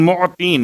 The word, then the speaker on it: معطین: یا خیر المعطین، معطین، میم عین توئیں یہ نون، معطین، موتی۔ اب چونکہ اگر تلفظ میں غلطی ہو جائے تو بات کہیں اور پہنچ جاتی ہے۔ ایک دینا ہے اور ایک عطا کرنا ہے، یا عین اور توئیں کے ساتھ ہے، حمزہ اور تے کے ساتھ نہیں ہے۔